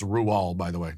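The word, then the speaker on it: Roald: rual doll's book the witches yes it is pronounced ruel by the way not roll in the movie hathaway's character is which i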